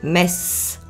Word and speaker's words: Metz: s'est simplifié en connaissant Laura prononcé messe Metz à soi son